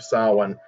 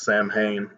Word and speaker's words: Samhain: They're in the Halloween, they're having Halloween, and they end up battling kind of a demon who's named Samhain, which most people would pronounce Samhain.